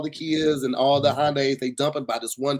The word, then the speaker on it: Hyundai: like to hear it it's Hyundai like Sunday why won't you tell